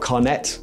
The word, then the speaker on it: carnet: to get a carne it's spelled carnet i don't know they pronounce it carne which is like a